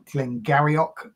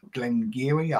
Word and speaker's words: Glen Garioch: it's a 1988 gleni it's looks like a glen garok but it's pronounced gleni I'm told um a little town of old